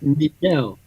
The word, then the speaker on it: Nigel: My Yes. name is pronounced Nigel. It's got a bit of a French pronunciation.